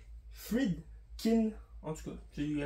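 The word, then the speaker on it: Friedkin: de 1973 réalisé par William fredskin je pense qu'il y a pas de Fred il y a pas de Z ou de S c'est Fred Fred Kin en tout cas j'ai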